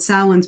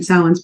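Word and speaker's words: Samhain: right before this called salin's bargain but it's spelled the Celtic way s-a-m-h-a-i-n salons bargain which takes place over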